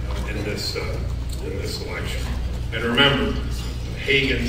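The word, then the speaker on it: Hagan: And remember, Hagen does not rhyme with Reagan.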